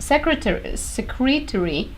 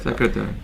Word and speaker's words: secretory: among organelles of the secretory pathways. Did I say it right? Oh, wait. Secretary. No, secretory. It's secretory.